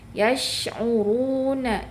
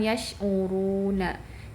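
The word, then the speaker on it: يشعرون: Yasuruna ru ya pada saat ru itu di pangkal lidah dinaikkan yasuruna. Jadi jangan yasuruna. Yasuruna sudah domah sudah dimonyongkan tapi dia tidak naik pangkal lidah tapi harus yasuruna runa ya.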